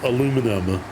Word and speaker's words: aluminum: other elements so he changed the name to aluminum and then eventually decided that it it didn't